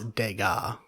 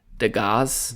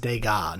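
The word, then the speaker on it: Degas: deas um this that's dega deaz dega no s you don't pronounce the S Thea it's that that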